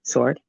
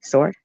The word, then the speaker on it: sword: do you say sword sword silent W right sword I wasn't looking for